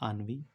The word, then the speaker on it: ennui: Next है आन्वी। इसको हम आन्वी पढ़ते हैं। इसकी स्पेलिंग है ENNUI। इसको हम पढ़ते हैं आन्वी।